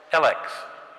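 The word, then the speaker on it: ELEKS: Elix. Have I got the right pronunciation?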